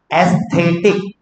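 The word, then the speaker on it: aesthetic: Then एस्थेटिक function, pronunciation में ध्यान रखना, अगर किसी को कंफ्यूजन लगे तो लिख देना एस्थेटिक। वो डॉक्टर अस्थाना था ना मुन्ना भाई एमबीबीएस में, उसके ऊपर से एस्थेटिक, अस्थाना, एस्थेटिक याद रखने के लिए आपको मैं लिंक दे रहा हूं।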